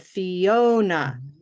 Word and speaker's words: Fiona: going to underline oh that's second Sy yep that's the second syllable now what I'll do